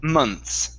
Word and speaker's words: months: this word okay uh you want to pronounce it without the th okay so it's months just like that months okay so a few